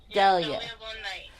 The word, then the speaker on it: Dahlia Von Knight: Dahlia Von Knight.